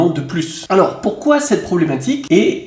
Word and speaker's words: plus: qu'il faut bien retenir si plus se trouve dans une expression négative on ne prononce pas le s sauf si il y à une liaison donc voici des exemples je